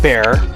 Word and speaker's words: Bjor: friend at a tavern his name is bjor he is pronounced bear but we like to say bjor because he that's what